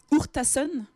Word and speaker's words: Urtasun: Il s'agit d'Alex Hurtasun. Tu me corriges, Hakim, si je prononce mal.